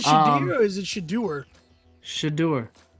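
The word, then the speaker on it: Shedeur: Sanders is it Shad or is it shadur shadur it's shadur Sanders shadur well shadur sh somebody give us the correct pronunciation of this man's name now cuz now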